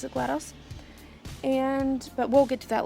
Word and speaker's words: GLaDOS: I personally pronounce it GLaDOS, but we'll get to that later.